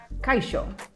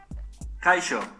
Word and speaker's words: kaixo: I think that's how they would pronounce it. It's H-O-L-A anyway. In Catalan, very similar, hola. Now, in Euskera, it is kaixo, right?